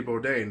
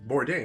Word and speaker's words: Bourdain: Bourdain, I think it's Bourdain. I've been pronouncing it wrong.